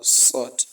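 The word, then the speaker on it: صاد: next letter, which is sod. We have sod, sod, sod, sod, sod. Yes. And it is pronounced on the tip of the tongue when the tip of the tongue relies on the bottom incisors.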